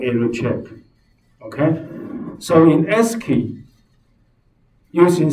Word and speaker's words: ASCII: short okay asci Ally pronounce it as s key so this time when people tell you the SD code do you know what is key code you should say yes I know is Esky okay is a table